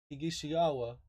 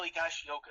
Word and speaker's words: Higashioka: Though Sanchez may have a battle though Sanchez may have to battle Kyle Higishiyawa. I can't never say his name right. For It's the all right. starting It's Kyle Higashioka.